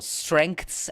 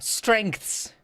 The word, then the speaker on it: strengths: Strengths has 9 letters, 1 vowel, and it's 1 syllable. It's like, what in the mouth is going on? Strengths. It's a little tongue dance, but it's very short. Strengths.